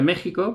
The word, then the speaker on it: México: antiguamente con x pero se pronuncia méxico porque la equis era una jota es la la h